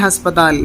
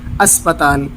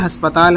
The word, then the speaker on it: ہسپتال: ملے، شفا خانہ، ہسپتال، یہ لفظ صحیح ہے ہسپتال، لیکن زیادہ تر لوگ بولتے ہیں اسپتال، تو وہ اسپتال نہیں بلکہ ہسپتال ہے، یہ اس کا اصل اور صحیح تلفظ ہے۔ عامہ خلائق، تمام